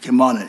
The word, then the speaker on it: Kilmarnock: Bill by 874 by Senator McDougal, charter change of Kim, how you pronounce it, Kilmarnock. Kilmarnock, yes.